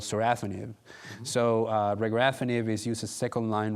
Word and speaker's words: regorafenib: There's regorafenib.